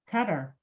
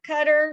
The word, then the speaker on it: Qatar: honor what is it cutter it depends where you put the influences all right let's see if we got him right guys so Qatar cutter Saudi Arabia got five